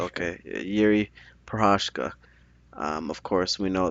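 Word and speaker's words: Jiří: It's Yuri Oh, Prohashka. okay, Yuri Prohashka.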